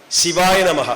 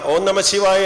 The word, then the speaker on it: ശിവായ നമഃ: എന്നുള്ളതാണ് ശിവൻറെ പഞ്ചാക്ഷരി മന്ത്രം ശിവായ നമഹ ഓം നമശിവായ എന്ന് ശിവ ആഗമ ശാസ്ത്രത്തിൽ ചൊല്ലാറില്ല മലയാളത്തിൽ എന്തുകൊണ്ടാണ് അങ്ങനെ ചൊല്ലുന്നതെന്ന് എനിക്കറിഞ്ഞുകൂടാ ഓം നമശിവായ എന്നുള്ള ഒരു മന്ത്ര ഉച്ചാരണം തെറ്റായിട്ടാണ് ഞാൻ മനസ്സിലാക്കിയിട്ടുള്ളത് അങ്ങനെയല്ല ശിവായ നമഃ എന്നാണ് ശിവനെ സ്തുതിക്കൂ എന്നാണ് ആ